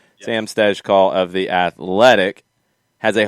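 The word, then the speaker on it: Stejskal: call yes I tried the last name is tricky and it's been mispronounced a lot I believe we're getting that correct now Sam stes call of the athletic has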